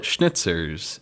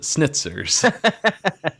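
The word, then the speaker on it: Schnitzer's: They call it schnitzers in the rye. Oh, yes. But he calls it sniters.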